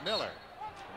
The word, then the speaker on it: Mueller: One of two Millers in the lineup at this moment for Marquette, although one is spelled as if it were Mueller. It's pronounced Miller, and that's knocked out of bounds by the Mueller Miller, John Miller.